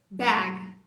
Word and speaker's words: bag: Quando você pronuncia o com a boca mais aberta, você chega muito próximo desse som. Então, essa palavra vai ser pronunciada com a boca mais aberta. É uma característica desse som, né? Bag, bag. Você meio que dá uma esticada nos lábios também.